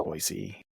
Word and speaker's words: Boise: couple weeks ago in boisey am I saying it right Boise yes yes boyy perfect um it's funny last